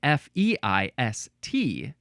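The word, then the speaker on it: fyce: I don't know, but at the very least, it looks like it is at least pronounced Feist.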